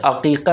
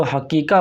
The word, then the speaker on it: عقیقہ: اللہ العظیم۔ ایک لفظ عقیقہ ہے۔ عام طور پر لوگ بولنے میں غلطی کرتے ہیں اور لفظ عقیقہ کو حقیقہ بولتے ہیں، جو انتہائی غلط ہے۔ انسان جب بھی